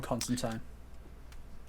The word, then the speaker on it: Constantine: King Shark, Beast Boy, John Constantine. Oh, yeah. Those are three all like pretty great, I think. Wasn't Beast Boy? He just said Constantine and I'm angry, but it's fine. That's the proper pronunciation, you I don't care.